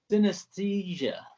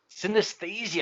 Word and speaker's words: Synaesthesia: Have I got the pronunciation right, Daniel? Synaesthesia. Synaesthesia.